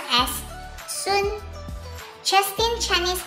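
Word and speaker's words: 孙: Well, in Mandarin, Justin's last name, Sun, is actually not pronounced as Sun. It should be pronounced as Sun.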